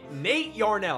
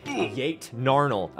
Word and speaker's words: Nate Yarnell: And Nate Yarnell. I almost said Yate Narnell. So clearly not his name.